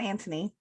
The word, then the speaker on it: Anthony: Like, I'm I gonna make almost sure I wrote it without pronounce the H, Okay. so we'd remember. Okay. So season 1, Anthony Anthony.